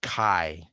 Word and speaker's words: chi: looks like an x but it's called chi spelled like the t c-h-i now the chi of